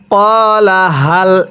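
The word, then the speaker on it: قَالَ هَلْ: এরপরে কলা হাল কিভাবে শিখব? কলা হাল, এই গোল হাগুলো উচ্চারণ করার সময় গলার মধ্যে একটু আওয়াজ করব, তাহলে এই হাটা সহিশুদ্ধ উচ্চারণ হবে।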